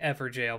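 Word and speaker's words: Evergaol: all right uh yes evergolds are pronounced like ever jail but I'm going to call them ever ghouls until oh there it is there goes I'm gonna call them ever ghouls until the day I die all right let's try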